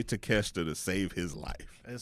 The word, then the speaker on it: Takeshita: He cannot say Takeshita to save his life.